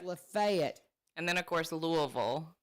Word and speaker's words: Lafayette: and we have a street L A Leet. No. Yeah, you're supposed to We say Lefayet.